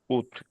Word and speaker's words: août: avril avril a se pronunce a se pronunce et je pronunce mais nationalisation n'oubliez pas naalisation La double estou le t final ne se prononce pas alors août août septembre septembre octobre novembre décembre brutre fois la prononciation répétez tout le monde.